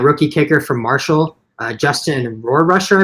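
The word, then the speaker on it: Rohrwasser: The Patriots ended up going with that rookie kicker from Marshall, Justin Rohrrusher, I believe that's how you pronounce his name, Rohrrusher, I think.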